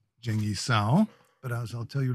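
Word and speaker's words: 鄭一嫂: And in Mandarin, you did pronounce her name correctly, which is Zheng Yi Sao.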